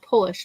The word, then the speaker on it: Polish: I freaking want one of those bottles if you can get Polish rye finish in a port wine barrel. Polish rye. Oh, Polish, not polish. Yeah. It's spelled the same.